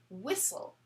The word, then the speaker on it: whistle: it makes is sol the t is silent so for example the word whistle s w-h-i-s-t l e whistle like i'm not a